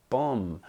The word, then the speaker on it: bomb: fifth word which is Bomb which is spelled b-o-m-b very similar to comb c-o-m-b but funnily enough doesn't rhyme comb and bomb and I have hope some people say bomb but no it's not bomb it is bomb in